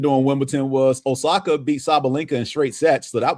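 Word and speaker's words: Sabalenka: Sabalinka.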